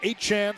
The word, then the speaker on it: Achane: The last name is now pronounced Achane, so it's Achane.